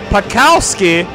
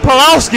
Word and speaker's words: Pakowski: So the big story here has been the play of Jeff Pakowski. Not Pulowski, I've been saying his name wrong, so I apologize to him.